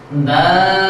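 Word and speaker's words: دال: ঠিক তারে একই মাখরাতের আমি এখন আপনাদের সামনে উচ্চারণ করছি দাল দাল দাল বন্ধুরা আপনারা সবাই আমার সাথে বলুন দাল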